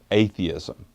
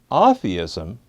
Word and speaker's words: atheism: Although spelled the same, I'm deliberately saying this word differently from its usual pronunciation, which is atheism. I make this distinction because atheism need not be understood as an anti-religious or anti-spiritual perspective.